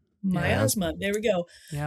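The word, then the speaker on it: Miasma: Um but I'm going to go with and I might pronounce the last word wrong but it's Teenage Sex and Death at Camp Mia's Myasma.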